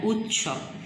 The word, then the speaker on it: উৎসব: বৃষ সার, মেলা উৎসব মুখর জায়গা, উৎসব খণ্ডেতটা তয়ের মতো উচ্চারণ হচ্ছে, রস্যু খণ্ডেত দন্ত সব উৎসব মুখর জায়গা।